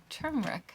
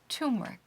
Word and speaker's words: turmeric: yarn was dyed using turmeric I always struggle with that word turmeric turmeric there's an extra r that I don't want to be there and I dyed this